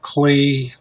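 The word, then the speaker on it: Klee: look at line this artist's name is Paul clay sometimes pronounced Paul clee he's from Switzerland and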